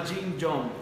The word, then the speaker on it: Chi Kung: Hay un libro que me gusta mucho, que se llama Jin Yong, que es, se escribe Chi Kung, es de la meditación china.